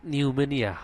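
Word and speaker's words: pneumonia: উচ্চারণটা এখানে আসবে না সেম একই রকম এখানে পির উচ্চারণ আসবে না এখানে নিউমেনিয়া উচ্চারণটা হবে নিউমোনিয়া তারপর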